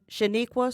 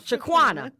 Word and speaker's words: Shaquana: And Shaniqua Suggs came down to, I pronounced it wrong, Shaquana. I don't know why I said Shaniqua.